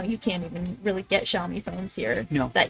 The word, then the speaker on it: Xiaomi: SP19 is a brand ambass ambassador for Xiaomi.